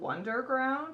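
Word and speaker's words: Wunderground: the weather is called wonderground it's with a w wonder like w like it's how do you spell it it's this little one right there my phone will focus underground w-u-n-d-e-r-g-r-o-u-n-d and i really like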